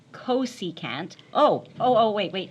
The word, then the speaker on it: cosecant: Certainly don't say kuska. Please don't pronounce it to me.